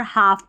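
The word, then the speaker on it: half: पर ऐसे पैटर्न में एल साइलेंट रहता है, इसको वालक या हालफ नहीं पढ़ते, वॉक और हाफ पढ़ते हैं।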